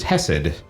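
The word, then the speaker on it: Chesed: one of the Sethro so it is hessed is the smell of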